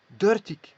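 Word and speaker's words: dertig: Ici, on va dire dirty. Voilà.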